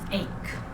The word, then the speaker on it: ache: When you see this, the pronunciation is ache.